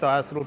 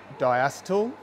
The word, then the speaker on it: diacetyl: In Australia we pronounce it diacetyl. If you're an American you'll pronounce it diacetyl. A bit like the aluminium aluminum thing. So spare the comments. We say diacetyl.